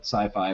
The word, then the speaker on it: Syfy: And for those of you questioning my pronunciation of that network as Siffy, I absolutely hate the rebranding they did, and I refuse to call it sci-fi when it's spelled SYFY.